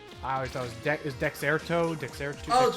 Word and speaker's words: Dexerto: Is that how you pronounce his name? I always thought it was deexerto. Dexter. Oh, Dexerto.